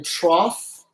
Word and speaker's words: trough: wage this is a part we called a trough and it's spelled super-weird TR ough okay I know I